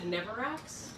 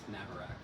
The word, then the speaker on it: Navarax: You said Neverax? Navarax. Navarax.